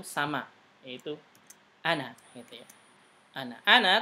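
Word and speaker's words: أنا: Ana tulisannya panjang, ada alifnya ana, tapi dibacanya pendek. Ana.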